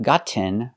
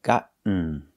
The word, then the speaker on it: gotten: a stop T got and the participle is gotten not gotten but gotten make the stop T and fall to the end sound got so again in